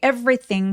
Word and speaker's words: everything: 여기 everything 발음하실 때 every요 중간에 오는 두 번째이 발음 같은 경우는 열심히 내지 않으셔도 괜찮아요. 그래서 바로 r로 넘어가는 것처럼 한꺼번에 fre라고 발음하시면 자연스럽습니다. 강세 또렷하게 everything. everything.요 요 th는 혀를 살짝 내밀어 주시면 되는데 윗니 아랫니가 벌어지고 사이에 혀가 살짝 내밀어지는게 포인트예요.